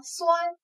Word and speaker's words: 酸: 第二个字读作酸，酸甜的酸，它是